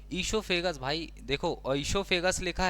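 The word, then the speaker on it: oesophagus: अब ये इससोफेगस भाई देखो इससोफेगस लिखा है लेकिन यह जो ओ है ना साइलेंट होगा इसलिए इसको इसोफेगस ही पढ़ेंगे।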